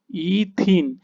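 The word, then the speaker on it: ethene: কি হবে এর উদাহরণ তুমি দেখো ইথিন এর উচ্চারণ কিন্তু হবে ইথিন তাহলে নাম কি হয়ে গেল না তুমি দেখো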